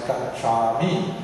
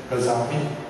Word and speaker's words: Gacchami: Even for example, among the Burmese, they can't pronounce Gachami, they say Gazami. It sounds very nice actually.